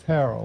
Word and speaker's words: Harrell: But that's Hark from now the it's not Harrell, or it's Harrell like barrel, Gotcha. or like Will Ferrell, spelled the same way.